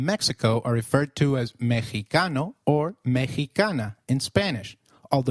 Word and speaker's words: Mexicano: Did you notice that the X in Mexicano is pronounced as H? While X is usually pronounced as X inflexible, it is pronounced as a throaty H in the words Mexico, Mexicano, and Oaxaca, which is a state in Mexico.